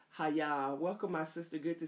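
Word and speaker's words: היה: the Hebrew the connects the correct pronunciation is hi-yah welcome my sister good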